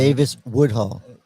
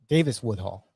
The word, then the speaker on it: Davis-Woodhall: Davis-Woodhall. Tara, T-A-R-A, Tara Woodhall. Davis-Woodhall. Yeah, Davis-Woodhall. Okay, there we go. I butchered it anyhow.